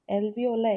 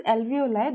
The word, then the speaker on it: alveoli: you heard of alveoli this uh pronounced that alveoli okay not alveoli so do you know